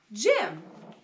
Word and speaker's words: gym: You see the G beside a Y? It makes the soft G sound. So this is gym.